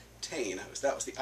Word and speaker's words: Tain: says on the bottle uh i would have pronounced that toy but i found out from glenn morty's website is pronounced tane i was that was the irish pronunciation toy